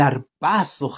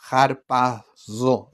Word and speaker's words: harpazo: isoma viene de harpazo harpazo Bueno en realidad yo pronunci la la seta de otra manera si hay un griego